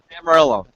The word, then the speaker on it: Amarillo: with okay do I do I roll that R into the Y like how do you pronounce that Amarillo Amarillo you don't go Amar you don't okay that's